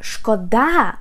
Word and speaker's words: шкода: Guys, pay attention, this word has two stresses and if you put the stress on the first syllable and say шкода, шкода means damage. Harm, and шкода, when you put the stress on the second syllable, it means like pity, like мені шкода.